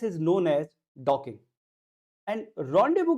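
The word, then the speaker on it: rendezvous: रॉन्डेवू का जो pronunciation है वो थोड़ा सा अलग है, क्योंकि ये वर्ड जो है वो फ्रेंच वर्ड है, इंग्लिश का नहीं, इसलिए इसका प्रोनाउंसिएशन भी थोड़ा अलग हो जाता है।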